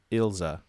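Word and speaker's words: Ilse: know it's um oh I looked up German pronunciation of it because most of the names in the show are German yeah and most typically German pronunciation is ilza Ila Ila Ila's notebook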